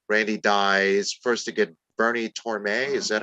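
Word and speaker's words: Bernie Tormé: And then, like you pointed out, Greg, Randy dies first to get Bernie Torme.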